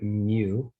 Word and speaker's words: mu: the greek letter mu you pronounce it mu just like micro right it's the same symbol this does not mean